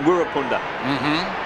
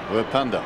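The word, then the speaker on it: Wirrpunda: lot of talk about how you should pronounce Wirpunda and Wirapunda. Now, what do you have to call him? Wirpunda today.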